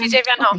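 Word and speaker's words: PJ Van Hulle: And so without further ado, we have PJ Van Hull with us. Am I pronouncing your name correctly? Or is yes, it PJ Van Hull.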